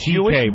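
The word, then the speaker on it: C.K.: CK is just the first two letters of your whole last name. It's pronounced CK, but it's spelled much longer.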